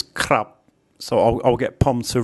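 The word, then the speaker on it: ครับ: This is a K consonant, the raw R consonant, which makes a consonant cluster, and then the short Sara A. And this one makes a B sound as an initial consonant, but a P sound as a final consonant. So it's like krap.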